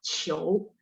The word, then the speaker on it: 球: Terus yang 9 球, Q bacanya CH ya. Jadi bahasa Mandarin nggak ada bunyi Q kayak kita, tapi Q-nya dibaca CH. 球.